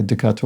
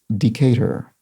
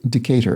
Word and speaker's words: Decatur: i i must have said something like a decatur or something like that but long way to temporary says the name is pronounced decatur in georgia i lived there many years so decatur and that's spelled d-c-a-t-u-r so thank you long